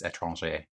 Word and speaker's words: Étranger: Étranger, it's a French word. Is that the actual pronunciation? Yes, I studied French for a number of years. It's Étranger. Okay, well, I don't really